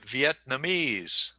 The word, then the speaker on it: Vietnamese: And where is the emphasis? Vietnamese. The third. 4. Yeah. Vietnamese. Okay, it's on the 4th syllable.